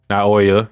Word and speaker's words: Naoya: Naoya, yeah.